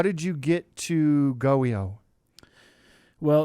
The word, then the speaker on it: GOEO: governor's office of Economic Opportunity it is so goio is that how you say it yeah that's